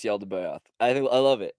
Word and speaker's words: Yaldabaoth: there's something called the Lal de Boath, which, again, Google Translate makes all different types of all week I've been hearing people mispronounce Yaldabaoth.